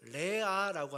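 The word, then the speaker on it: רֵעַ: 유혹처럼 다가옵니다 참 재미있는게 히브리어로이 친구를 레아라고 합니다 레아 그리고 악하다 악은 라라고 합니다 그러니까 모음 하나만 차이가 나는 것이요 예 발음과 아 발음으로 차이가납니다 성경은 보면은 성경을 기록한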